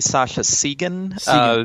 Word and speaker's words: Sascha Segan: your name a million times, but did I pronounce it correctly? Uh, it's actually Sasha Sean.